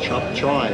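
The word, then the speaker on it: cap cay: Don't be scared of chop chai. Well, it's spelled C-A-P-C-A-Y. It's K, but it's chop chai.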